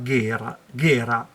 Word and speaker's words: Gera: della Dedacciai, il Deda Gera, però pronunciano Ghera perché ormai io ci avessi messo una H, visto che siamo italiani.